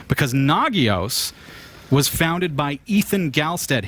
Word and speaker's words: Nagios: the pronunciation right because Nagios was founded by Ethan Galstead, who says the NA sounds like na, the GI sounds like the first part of geese, gee, and o sounds like the last part of verbose.